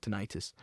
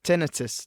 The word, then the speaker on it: tinnitus: Or tinnitus, depending on your pronunciation. I would say tinnitus. Thing is, this is the thing, I would say tinnitus, but I know you say tinnitus, and in the film they said tinnitus, but I think you can say either.